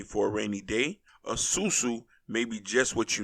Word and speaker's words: sou-sou: this video so y'all can learn now a susu which is spelled s-u-s-u or s-o-u or sou is uh